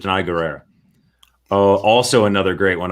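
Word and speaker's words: Danai Gurira: I think that Diana, because it's Denai. No, because that's how you pronounce it. Denai Guerrera.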